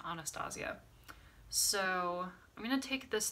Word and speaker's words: Anastasia: I've always pronounced it as Anastasia, but the brand I believe pronounces it Anastasia.